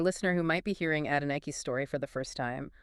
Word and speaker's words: Adenike: And as promised, here's the correct pronunciation of her name, just like in that YouTube video, Adenike.